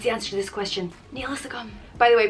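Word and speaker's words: Níl a fhios agam: means i don't know it's pronounced neil is a gum nila sakum and the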